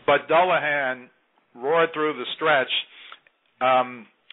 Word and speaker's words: Dullahan: of the NBC Sports channel coverage it's not dulahan apparently it's dullahan that's the correct pronunciation they're apparently calling Ireland to find out the correct pronunciation but dullahan roared through the stretch um to beat Hansen